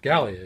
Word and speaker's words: Gallia: i'm gonna go with galia okay so i have hispania or i hope i'm pronouncing that gallia gallia yeah that's right so i've got first